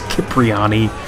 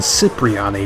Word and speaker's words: Cipriani: letter for Claude, Toni mispronounces his last name as Cipriani rather than Cipriani, which is what was established as the pronunciation during the mission Cipriani